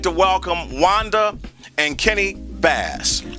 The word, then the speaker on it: Bass: I'd like to welcome Wanda and Kenny Bass. Am I saying that right? You're saying it right.